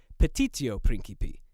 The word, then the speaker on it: petitio principii: It's actually petitio principii. Note the missing I in my original pronunciation.